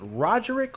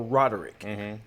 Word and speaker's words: Roderick: r i c k also there's no G you thought it was